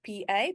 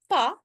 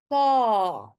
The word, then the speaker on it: pa: Again, very short word, P-A, but it's not a short sound. It's not pa, it's a long sound. The A, pa, pa.